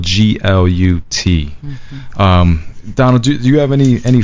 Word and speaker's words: Glut: Glut, but it's spelled Glut.